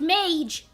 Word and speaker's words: Mage: It's pronounced mage. It's pronounced mage!